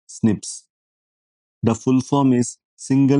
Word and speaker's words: SNPs: These are called SNPs pronounced as snips.